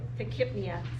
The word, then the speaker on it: tachypnea: tachypnea, so yep. So asking me for pronunciation advice is probably not your best bet.